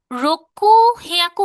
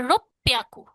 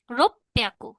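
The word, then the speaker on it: ろっぴゃく: রোকু হিয়াকু হওয়ার কথা, এটা রোপ্যাকু। রোপ্যাকু।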